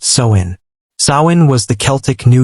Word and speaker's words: Samhain: And the most powerful night of the year was October 31st, the festival of Samhain, pronounced Samhain.